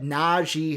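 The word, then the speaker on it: Najee: i don't get it it's na g naji harris like that's it like it's simple and i was like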